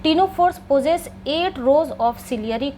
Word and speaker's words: Ctenophora: टीनोफोर्स पोज़ेस eight rose of ciliary कॉम्प्लेट्स। और इस कॉम्प्लेट्स को किस नाम से जानते हैं? टिंस। बच्चों, टीनोफोरा में भी सी साइलेंट है। तो, आप कंफ्यूज मत करिएगा।